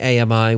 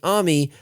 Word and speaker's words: AMI: There are two versions, one properly pronouncing AMI with 3 syllables, and the improper version pronouncing it AMI for $10 more because there is a cost to being wrong.